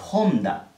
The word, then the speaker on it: Honda: el logo más y está h si se pronuncia de qué manera como se ofrece una jota del español por ejemplo esta marca de acá en español de honda no pero no se dice onda se dice onda como